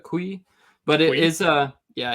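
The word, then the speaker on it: cuy: So not koi, but kui.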